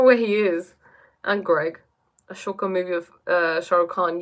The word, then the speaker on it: Ashoka: Ashoka movie of Shah Rukh Khan. Yes, Ashoka. They call him Ashok, but it's spelled Ashoka.